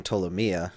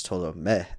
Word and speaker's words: Ptolomea: it up the um because i kept saying ptolemia but that's very american of me um when